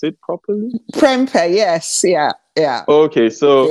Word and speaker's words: Perempe: And I smiled when I saw the name Perempe. Did I pronounce it properly? Perempe, yes.